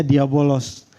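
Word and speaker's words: διάβολος: dari bahasa Yunani yang ini tulisannya diabolos nah bacanya diabolos diabolos Nah jadi artinya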